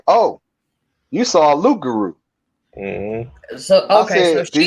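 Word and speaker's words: loup-garou: See, some of them say Rougarou, but some of the proper, according to her, the proper pronunciation is Luke Guru.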